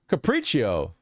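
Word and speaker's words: capriccio: Capri caprico is it capricio capric IO or cpro hang on how to pronounce yeah capricio capricio capricio what caprico with a CH it's Italian okay preo caprico it is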